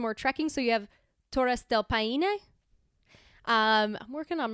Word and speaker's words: Torres: So you have Torres del Paine. I'm working on my pronunciation here. Torres. Okay, well. Can you roll your R's? It's not as well like Torres.